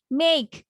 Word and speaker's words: make: দেন আইক would, would, WOULD, would, Ike would make, make, কে আছে, তাহলে খয়ের মতো করে উচ্চারণটা মাথায় রাখবা, make, MAKE, make.